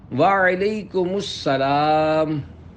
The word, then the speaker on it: وعلیکم السلام: جواب سناتا ہوں، پھر آپ اس کو دہرائیے۔ وعلیکم السلام۔ رضائے حق کے لیے تم سلام عام کرو،